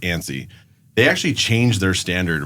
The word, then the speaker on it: ANSI: Like we had talked earlier like the the standard for measuring homes is it's an acronym ANSI. It's pronounced ANIE.